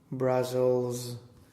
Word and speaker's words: Brussels: Brussels, So the first one, how do you pronounce the first S? S, And the second? Z, You did them both Z.